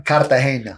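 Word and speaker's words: Cartagena: How do you say it, John? Kartahena.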